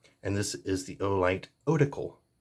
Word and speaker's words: Otacle: I say Otacle. People seem to have the hardest time pronouncing this across the board. Like, you got the Otacle P1, Otacle this, Otacle that. I think Oracle. Like, you hear, like, in Dungeons and Dragons, you gotta go talk to the Oracle or something. So I think Otacle in my head.